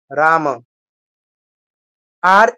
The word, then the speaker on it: রাম: কৃষ্ণ হরে কৃষ্ণ কৃষ্ণ কৃষ্ণ হরে হরে হরে রাম হরে রাম রাম রাম হরে হরে তো রামটা